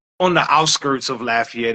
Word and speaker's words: Lafayette: the city in Louisiana you know I'm G mispronounce it from I'm from I was born and raised in Lafayette Louisiana I say Lafayette yeah I was born raised in Lafayette Louisiana um but I currently live in Karen